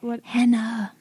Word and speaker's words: Henna: Henna. Oh, okay. It also doesn't help Can that we spell her name? I spell it like the henna tattoo, Henna. Oh, okay.